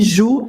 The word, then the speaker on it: Zhu: Meu nome é e Ju é meu nome de família. Agora, Ju, outro britânico, outro método de pronúncia brasileiro.